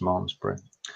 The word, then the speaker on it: Malmesbury: did check before that Mars breeze still pronounced mom's Britain so phrase number one